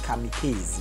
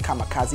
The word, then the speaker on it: kamikaze: his latest album kamikaze I was actually pronouncing it coming Keith but a focal spot God will kill me just kamikaze you know focus but